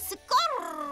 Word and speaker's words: Skor: Telaffuz edilişi şöyle. Skortua ben. Yo yo. Adı Skor. Skor. Yuvarla. Skor. Orrrr. Skor. Rrrr.